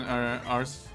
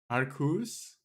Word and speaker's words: Arceus: Arcus? Oh, that's very weird. Because I tend to pronounce it the Italian way. And if you, like, in Italian, I will say Arceus.